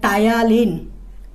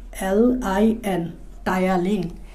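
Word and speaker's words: ptyalin: এই গ্রিক নামটা হচ্ছে এরকম, এই গ্রিক নামটা হচ্ছে টায়ালিন। গ্রিক নামটা হচ্ছে টায়ালিন, বাংলায় লিখে এরকম, আর ইংরেজিতে লিখে এরকম। পিটা উচ্চারণ হবে না, টিটা উচ্চারণ হবে YALIN, টায়ালিন। পিটা উচ্চারণ হয় না ইংরেজিতে।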